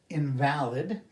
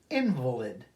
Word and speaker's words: invalid: of a meal dessert invalid meaning not valid not legitimate or invalid emphasis is different pronunciation is different an invalid is a